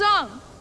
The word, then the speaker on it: Aang: My name is Ong. The names Aang, Iroh, and the phrase Agni Kai were also pronounced differently. M. Night Shyamalan claims he changed the pronunciation so they would sound more realistic.